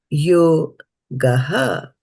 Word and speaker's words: yogaḥ: Yujyasva yogaḥ, because there's a dot underneath the H.